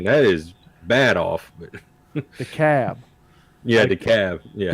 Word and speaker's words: DeKalb: But DeKalb. yeah, the cab. Yeah. DeKalb is DEKALB, Mm-hmm. but the L is silent. Yeah. But in Illinois, it's not silent.